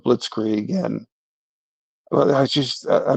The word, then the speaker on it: blitzkrieg: You know, Candace Owen is pronouncing things like blitz egg instead of blitzkrieg.